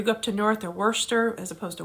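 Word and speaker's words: Worcester: bethlehem or you go up to north or wurster as opposed to worchester and how do you say some other words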